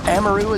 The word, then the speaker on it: Amaru: We see an Amaru here being played, or Amaru as she's technically pronounced.